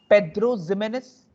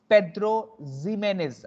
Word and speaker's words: Pedro Ximénez: The second one is Pedro Ximénez. Pedro Ximénez. I repeat again, Pedro Ximénez. Pedro Ximénez. Okay, all are Spanish pronunciation.